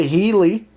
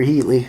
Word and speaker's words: Healey: how he murdered Linda Healey is it Healey or heaty I don't want to mispronounce her name wrong I believe it's it's Healey Linda Healey you know